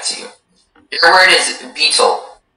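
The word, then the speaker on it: baetyl: Beetle.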